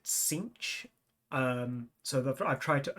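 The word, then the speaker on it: Tzeentch: CCH um weird enough I used to pronounce it t nich all my life since fourth edition I pronounced it t nich and then Games Workshop came out with that official pronunciation guide and they pronounced it cinch um so I've tried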